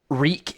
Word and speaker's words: REC: yeah first of all reek is how we would say it if we were saying the word record I guess that's more of the shorthand in a way because the same pronunciation horrible title for a